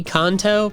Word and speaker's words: Kanto: I think the official pronunciation might be Kanto, but Darwin, evolution take millions of years, Pikachu evolving after being handed a shiny yellow stone.